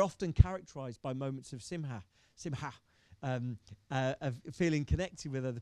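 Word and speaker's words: שמחה: People will correct my pronunciation on that, but simha, a hard ha sound in the middle. Okay, simha, ha.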